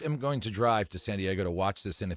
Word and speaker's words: San Diego: It's actually pronounced San Diego.